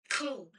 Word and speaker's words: Cole: Cole. Cole. Okay, so it is Cole. Like C O A L.